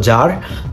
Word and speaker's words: Tsar: Russian যে সাম্রাজ্য ছিল রাশিয়ার সম্রাটদেরকে বলা হতো জার। টিএস এ আর এটার উচ্চারণ হয় জার।